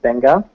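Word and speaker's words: Beqa: real quick Banger Lagoon b-e-q-a is pronounced benga is down here by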